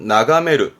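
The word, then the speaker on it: 眺める: 초보가 되겠습니다 음도 이거면 되고요 훈독이 많이 쓰이는데요 발음은 나가메르 나가메르는 멀리 바라다 보는 멀리 건너다 보는 의미에서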